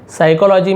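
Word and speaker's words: psychology: साइकोलॉजी में P silent होता है और पी से ही ये क्या होता है, स्टार्ट होता है।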